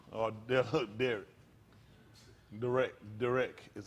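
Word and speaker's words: דרך: That's a Darak or Derek. Derek is how they pronounce it.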